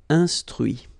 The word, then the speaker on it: instruit: Okay, so you can notice that even if I put this final T, so as usual, I don't pronounce it. Okay, conduit, construit, cuit, détruit, instruit.